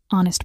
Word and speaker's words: honest: Honest person. Pause. Tricky. It's an honest person. The H is silent, so it starts with an O sound.